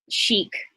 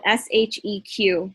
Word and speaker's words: Sheq: hopefully by november download chic it's spelled s-h-e-q some people are calling it she-q which it doesn't really matter chic um so download cheek